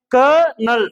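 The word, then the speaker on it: colonel: ஒரு இது கொடுத்திருப்பான் சரியா க நல் ரெண்டே சிலபல் தான் இது வந்து விதிவிலக்கா இருக்கு ஏன்னா கம்ப்ளீட்டா பழைய புத்தகத்தை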